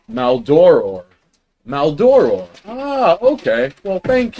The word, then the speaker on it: Maldoror: Songs of Maldorador? Maldorador? Maldoro. What? Songs of Maldoror. Maldoror. All right. No one corrected me. Come on. I pronounce it as Maldoror.